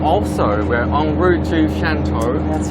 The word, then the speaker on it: Shantou: Shantou, I'm pronouncing it Shantou.